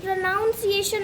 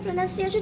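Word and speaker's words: pronunciation: सो प्रोनाउंस प्रोनाउंस एक सही word है लेकिन प्रोनाउंस प्रोनाउंसिएशन इट्स नॉट a correct word. आप वीडियो में देखेंगे वो प्रोनाउंसिएशन बोलते हैं बहुत ज्यादा। सो प्रोनंसिएशन अगर आप उसको सुनेंगे बार-बार प्रोन्सिएशन प्रोनंसिएशन प्रोनंसिएशन तो आपके मुंह से प्रोनाउंसिएशन निकलेगा।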